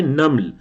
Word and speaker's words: نمل: سورۃ النمل میں۔ اچھا، یہ میم کے سکون کے ساتھ ہے، اردو کے لہجے میں ہم اس کو نمل تو کہہ دیتے ہیں، لیکن یہ نمل نہیں ہے، یہ کیا ہے؟ نمل، نمل، نون پر زبر اور میم پر سکون۔ حضرت سلیمان علیہ السلام